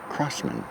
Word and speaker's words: Crosman: We correlate the crosshair with crossmen. Hence it's always been a part of their logo and a part of their theming. So that's why we say crossman.